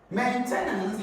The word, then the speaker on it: maintenance: about option D maintenance maintenance has it stress on the first Sy going to have